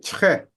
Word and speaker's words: très: she's pretty, It's like très. it's like try.